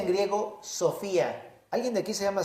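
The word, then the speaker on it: σοφία: muy bonita que se dice se se se pronuncia en griego Sofía alguien de aquí se llama Sofía bueno por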